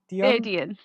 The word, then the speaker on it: Aedion: The cousin, I'm going to pronounce this wrong. Is it Aedon or Aedion? Adian.